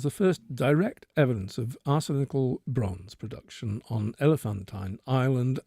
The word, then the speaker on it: arsenical: Discovery reveals arsenical, is that the way to pronounce it, Rupert?